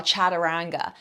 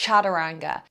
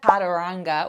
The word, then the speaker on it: chaturanga: What I want you to realize is when you see an A in the middle of a word in Sanskrit, very often it's actually pronounced as if it's a U, so more that oo sound.